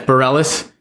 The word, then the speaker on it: Bareilles: I mean, especially if you're taking the, and I always mess her name up, but Sarah Bareilles, is that how you say it? Okay. Yeah. Yes, Bareilles.